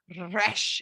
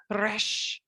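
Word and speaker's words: ריש: It's kind of like when you're learning Spanish and you have to like roll your R's, right?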